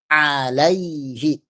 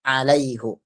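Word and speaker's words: عليهِ: Makanya alaihi bukan alaihu.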